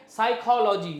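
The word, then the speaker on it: psychology: word है ठीक है साइकोलॉजी बहुत लोगों को स्पेलिंग पता नहीं होगा साइकोलॉजी का पी एस वाई सी एच ओ एल ओ जी वाई होता है ये आपका साइकोलॉजी होता है लेकिन पी यहां पे साइलेंट है बहुत सारे ऐसे वर्ड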